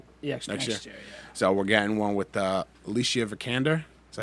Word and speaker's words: Alicia Vikander: So we're getting one with Alicia Vikander.